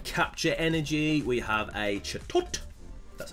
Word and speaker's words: Chatot: We have a Chatot.